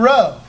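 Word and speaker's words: rho: cry for Christ is Kai and Roe so this makes kind of a a hard C sound like a k sound the X does and then what looks like a p is a row which is the r sound okay and so it's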